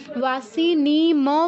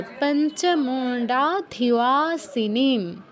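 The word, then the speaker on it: पञ्चमुण्डाधिवासिनीम्: ওয়াসি নি ম বলবো না কেউ, ওয়াসি নিম, ময়ের নিচে হসন্ত আছে তার মানে আমরা পূর্ণ উচ্চারণ করতে পারবো না।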